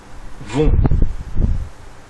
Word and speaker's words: vont: on obtient il elle vont là aussi le thé à la fin est muet et ne se prononce pas conjuguons le verbe aller